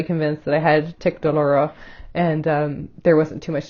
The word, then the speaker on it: douloureux: Tic douloureux, which is pronounced douloureux en français, which I actually speak